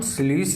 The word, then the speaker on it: sluice: तो इस ऑप्शन के अनुसार कौन हो जाएगा, option number B, स्लूइस valve. यहाँ स्लाइस लिखा हुआ है, माजा वाला स्लाइस नहीं, स्लूइस वल्व होता है, SLUICE, ये हो गया स्लूइस वल्व का स्पेलिंग।